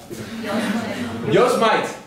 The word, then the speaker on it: Yosemite: Yosemite. We make jokes sometime, we call it Yosemite.